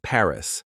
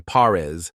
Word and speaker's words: Paris: the city of Paris a lot of Learners mistakenly say parz pronouncing it like two separate syllables but the correct pronunciation is Pari just one syllable with a little emphasis on the a sound you might also encounter